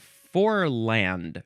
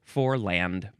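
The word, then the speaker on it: foreland: Next, we have forand. No, it says I'm supposed to pronounce it for spelled for land.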